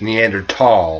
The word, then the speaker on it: Neanderthal: all of these perverted actually the correct pronunciation these days is neander tall yeah neander tall um